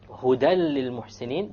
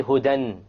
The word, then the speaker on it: هُدًى لِلْمُحْسِنِينَ: Again, you don't say hudan. If you said hudan, then that would be incorrect.